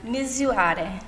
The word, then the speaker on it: Misurare: Which can you tell everyone how to pronounce the name of your line? Misurare.